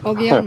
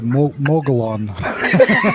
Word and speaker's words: Mogollon: Mogollon Monster. Very good. I kept wanting to say Mogollon.